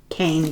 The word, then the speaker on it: Kean: So, Leslie Kean, looks like Kean, but I do believe it's pronounced Kane, but we know who